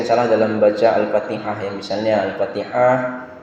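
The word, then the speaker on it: الفاتحة: Contoh yang sering salah dalam baca Al-Fatihah, misalnya Al-Fatihah ini juga pengucapannya harus diperhatikan. Ha-nya ini harus kecil dia. Jadi kalau dia ha-nya besar, ini bisa berbeda.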